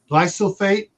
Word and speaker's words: glyphosate: Glyphosate. Oh, glypho, like PHO.